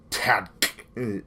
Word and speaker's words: TADC: Episode 6 of the Amazing Digital Circus or Tad, as it's pronounced, T A D C.